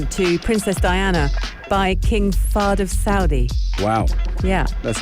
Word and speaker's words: Fahd: jewellery gifted um to princess diana by king fahd of saudi wow yeah that's amazing am i pronouncing his name right yeah wow she um